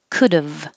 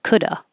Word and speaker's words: could've: Could've, if you're going to pronounce the V contraction, then it's dove, could've. But you can also just not pronounce the V and say coulda.